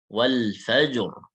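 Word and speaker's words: وَالْفَجْرِ: Kemudian yang berikutnya ro sukun sebelumnya sukun, ya selain ya karena nanti ya dia tipis ya kalau berhenti ya, khair misalkan, ya. Roknya sukun, sebelumnya sukun, tapi selain ya, dan sebelumnya lagi fathah. Sebelumnya lagi fathah. Sebelumnya lagi fathah, maka di sini dibaca tebal. Wal fajr, wal fajr, wal fajr. Nah, gitu. Tebal. Nggak boleh wal fajr. Fajr, lah. Wal fajr. Harus tebal.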